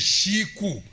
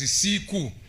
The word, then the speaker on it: siku: what we call inflections those of us in the south we say siku these ones in the centro says shiku but otherwise it is siku not the pronunciation can be different your excellency is found